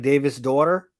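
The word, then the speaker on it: Davíðsdóttir: Well, so it's pronounced like Davis' daughter. Yeah, it's Icelandic.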